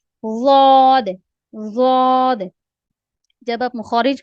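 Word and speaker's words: ض: ज़ाद को प्रोनाउंस करते हुए आप एक तो ये देखना है कि आप भरे हुए मुंह के साथ इसको अदा कर रहे हैं, और दूसरा आपकी जबान की जो साइडें हैं वो कहीं ऊपर वाली दाढ़ों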